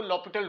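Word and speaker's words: L'Hôpital: है वह होता है ल पिटल रूल इसके जो स्पेलिंग है हॉस्पिटल के होते हैं लेकिन पढ़ते इसको ल पिटल रूल है लपट रूल लपट रूल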